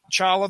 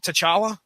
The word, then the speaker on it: T'Challa: Was there anything in here you learned about Chala the Black Panther? I'm noticing that you're calling him Chala. T silent. The T, I believe, is silent, sir.